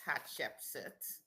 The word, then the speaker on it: Hatshepsut: Her um her given name is Hatchepsit.